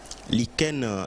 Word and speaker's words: lichen: Lichen est un mot également qui trouble lui dans la mesure où il ne s'écrit pas comme il se prononce. Le mot s'écrit L-I-C-H-E-N. Le C-H ici se lit Ken, pardon. Donc, lichen. Et le troisième mot que